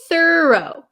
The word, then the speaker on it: thorough: so the first one the difference of pronunciation the first word is thoro tho okay thorough thorough you can see the movement of of my mouth the next word you